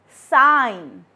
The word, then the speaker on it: sign: The first word is foreign, sign, design, and assign. In all these 4 words, G is silent.